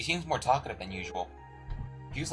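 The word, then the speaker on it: Fie: Yeah, I think it's not Toa. No. No, I'm sorry, man. It's Fee. It's Fee. It's spelled F-I-E.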